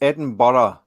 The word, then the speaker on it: Edinburgh: It's Edinburgh. Yeah. There we go. Yeah. From the border in Scotland, England, it's borough above it and borough below in pronunciation.